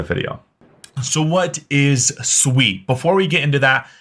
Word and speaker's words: Sui: sweet and first off what's how is it pronounced it is Sweet It Is Not sui I've been corrected multiple times so if you